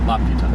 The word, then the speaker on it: Laputa: And that's Nausicaa and Porco Rosso and Laputa. It's a weird pronunciation because the syllable is in a different accent.